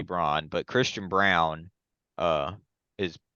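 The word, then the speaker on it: Braun: they're betting on him Chris Christian Brown I hate that that's how he wants it pronounced but it's literally Brown like it's literally Bron but Christian Brown uh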